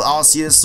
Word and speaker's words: Arceus: Next up, we have Shiny Arceus or Arceus or whatever you want to pronounce it as.